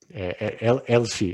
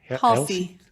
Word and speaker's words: Halsey: But do you find that Elsie, is that Halsey. Elsie? Halsey, I think is how you say it.